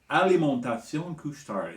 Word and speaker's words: Alimentation Couche-Tard: Alimentation Couche-Tard is how you say it in French.